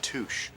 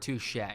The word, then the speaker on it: touché: It's touche. And this is actually a callback joke to Walter not knowing how to pronounce the word touche. He actually pronounces it touche in the season 2 episode Driver's License as well.